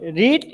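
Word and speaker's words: read: রিড, এই ভার্বের past participle ফর্মের রিটেন রূপ একই, রিড, কিন্তু উচ্চারণে পার্থক্য আছে।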